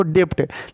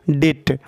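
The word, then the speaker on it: debt: क्या कह सकते हैं इसको डेप्ट लेकिन ये गलत प्रोनंसिएशन हो जा रहा है यहां पे बी को साइलेंट कर लेंगे और बोलेंगे डेट यहां पे बी जो है साइलेंट हो जाएगा और इसका मतलब क्या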